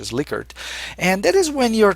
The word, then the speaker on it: Likert: People mostly call it the Likert scale, although the correct pronunciation is Likert.